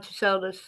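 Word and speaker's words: Tsoulos: Christopher John Soldus. Okay, the T is silent.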